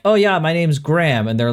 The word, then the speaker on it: Graham: And I'm just like GRA, and they're like, "All right, gra, okay, makes sense." And I'm like HAM, and they're like, "Ham." Like, shouldn't you be saying Graham, not Graham?